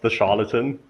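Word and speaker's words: TheCharlatan: about at the conference so it's pronounced the charlatan I basically presents with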